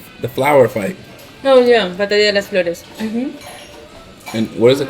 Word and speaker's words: Batalla de las Flores: Oh yeah, Batalla de las Flores. And what is it? How do you say it? Batalla de las Flores.